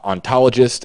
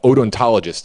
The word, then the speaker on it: odontologist: response complete examination uh ontologist anthropologist excuse me odontologist is the correct pronunciation anthropologist uh confirmation of